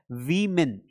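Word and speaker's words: women: लेकिन आपको पता होना चाहिए कि इसका सही प्रोनाउंसिएशन है वीमेन।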